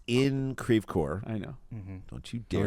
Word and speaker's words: Creve Coeur: It's in Creve Coeur. I know. Don't you dare Don't you dare pronounce it it correct properly.